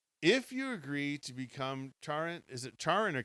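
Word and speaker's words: Chiron: If you agree to become Charin, is it Char or Karen? I don't know how you pronounce that. Kiron.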